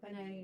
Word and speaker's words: Panay: and part of the contracts, Boracay is part of it because it's the whole, how do you say, Panay? Yeah, Panay Panay, region, yeah.